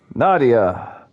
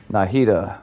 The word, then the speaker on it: Nahida: Nadia. Nahida? Nahida. Yes. What is everyone's thoughts on Nahida? I might not pronounce that right.